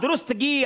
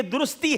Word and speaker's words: درستی: آپ نے کہا درستگی، حالانکہ یہ درستی ہے، یہاں غلطی ہو گئی ہے جناب. صحیح لفظ ہے درستی.